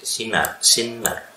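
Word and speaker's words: שנער: Kemudian ris, sinar. Jadi sinar. Harusnya double n ya, kan mudah diucapkan dalam bahasa itu.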